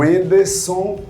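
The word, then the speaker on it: Wendson: O Anderson, o D é mudo, para deixar claro.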